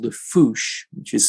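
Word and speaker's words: fossa: uh the only carnivore is something called the foosh which is spelt as if it's fusa or it's pronounced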